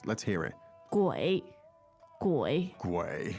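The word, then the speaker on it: 鬼: in Chinese please Jenny qu gu third tone third tone let's hear it again third tone is always nice let's hear it gu gu not very easy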